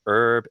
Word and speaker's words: herb: 1700s, so that for a majority of English speakers do pronounce the H, except a couple places where it didn't carry over to the US, like herb and what's another one?